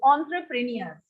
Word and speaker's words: entrepreneur: In fact, it is pronounced like this, entrepreneur. Okay, it is not English language, it is a French word. It is pronounced as entrepreneur.